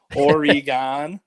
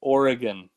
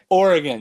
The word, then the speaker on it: Oregon: have where they say origon but it's I think she's trying to get you to say Oregon or which is the pronunciation Oregon yeah there's no like e sound in there Oregon but I'm not a